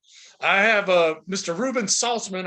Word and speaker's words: Saltzman: a mr reuben saltzman i hope i pronounced that right i've known you a long time but i'm never asking for the correct pronunciation of your last name am i close oh you got it right everybody says it right nobody ever spells it